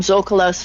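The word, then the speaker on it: Zócalo: I think they call them Zocalos or Zocalos or something. Zocalo. There we go. Yeah, when I was living in Mexico. Emphasis on the next to the last syllable.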